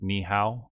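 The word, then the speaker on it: 你好: We have hello there, and I don't speak Mandarin, so I'm not going to say this well, but I believe it's pronounced something like ni hao, and it's just another way of saying hello.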